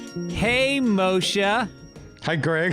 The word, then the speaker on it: Moshe: in your life moishe moisha moisha i don't even mind moisture sounds like mois is not truly a mispronunciation it's like uh it's a it it's a yiddish pronunciation so it feels like